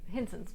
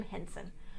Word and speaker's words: Henson: so his family uh hanson hinson's but it's hansen or hinson oh you think ibrahim would work i have a toddler who periodically doesn't sleep my brain doesn't always work it's jim henson um mispronouncing there um but they